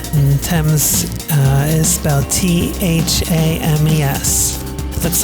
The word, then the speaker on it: Thames: the River Thames and the temas is about tha mes looks like fames but it's pronounced Thames the Thames River is fifty miles